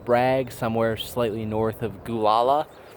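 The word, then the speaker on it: Gualala: I'm currently camped somewhere slightly south of Fort Bragg, somewhere slightly north of Gulala, California, which is an actual place. I assure you that's how it's pronounced.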